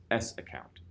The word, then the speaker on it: sacct: The other command is SACCT, pronounced as S account, -U and your username.